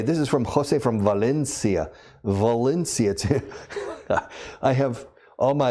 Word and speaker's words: Valencia: And it's interesting, they say, I am from Valencia. And say, no, Valencia. Eso, Valencia. I said, no, Valencia. And then I ask, by the way, do you speak Valencian? Yes. How do you say Valencia in Valenciano? I said, Valencia. And I say, okay, well, when you speak English, say Valencia in Valencian, and it's correct. It's like people from Barcelona.